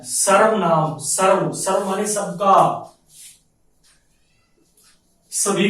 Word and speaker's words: सर्वनाम: सर्वनाम, यदि हम इस शब्द के टुकड़े करें, सर्वनाम, बच्चे कभी कभी इसका जो है भूलवश गलत उच्चारण कर देते हैं, स्वर नाम बोल देते हैं। स्वर नाम, ये स्वर नाम नहीं है, सर्वनाम।